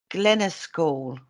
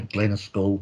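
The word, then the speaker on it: Glennascaul: Now, this is also called Return to Glenaskall. Yeah, that is more or less right there. Glenaskall, that's how I pronounce it.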